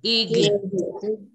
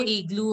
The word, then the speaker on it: aigle: Aigle. No, yeah, aigle. No igloo or anything. It is just aigle. Aigle. No, it's not igloo. It is aigle.